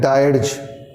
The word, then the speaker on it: dirge: तो उसको बोलते हैं डायर्ज, DIRGE। तो इसको याद रखने का तरीका है, डायर्ज में डाई है, डाई, डाई का उच्चारण, मरना, ऐसे उसको याद रखा जाता है।